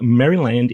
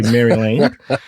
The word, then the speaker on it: Maryland: So, you know, like Disneyland, we'll say Maryland. And I also know that it kind of grinds on some of the listeners that I say Maryland. But That's how we pronounce it in Australia, mate, because, you know, Maryland chicken.